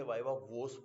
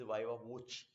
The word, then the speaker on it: viva voce: बट अगर पूरा word देखो तो लोग इसे वाइवा वोस बोलते हैं, but this is नॉट वाइवा वोस, this is वाइवा वोची.